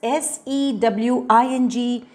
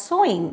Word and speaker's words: sewing: sewing is stitch and how do you pronounce this s-e-w-i-n-g you pronounce it as sewing it's not sewing so sewing is also